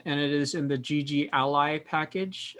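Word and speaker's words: GGally: it is in the gg ally package i think that's how you pronounce it it might be g galley but i'm pretty sure it's gg ally so what we're going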